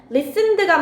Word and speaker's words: listened: 그럼 뒤에는 didn't listen이 아니고 과거형으로? 뭐라고 읽어? 아니지. 얘는 들은 게 맞지. 클래시컬 뮤직이라고 되어 있으니까 listened 라고 해줘야겠지.